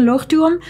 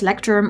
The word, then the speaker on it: Leuchtturm: two l'oreal notebooks so i'm saying look to them because lochte room is a german brand so you pronounce it as l and not as lecterm or let's drum i once pronounced loom